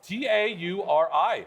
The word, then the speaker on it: Tauri: Yes, Tauri.